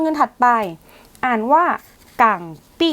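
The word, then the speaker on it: 港币: ดอลลาร สหรัฐ สกุล เงิน ถัด ไป อ่าน ว่า กั ปี้ กัง ปี้ คือ เงิน ดอลลาร์ ฮ่องกง กั ปี้ ดอลลาร์ ฮ่องกง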